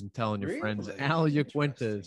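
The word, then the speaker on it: Iaquinta: ufc 223 had uh uh yakuenta because that is how you pronounce the names start spreading the news and telling your friends al jaquenta is how you pronounce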